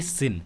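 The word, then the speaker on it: sin: वैसे इसे साइन pronounce नहीं करेंगे, इसे कहेंगे सिन।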